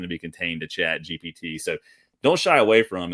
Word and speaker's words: GPT: the classroom that, oh, chat GBT, GPT, I keep saying it wrong.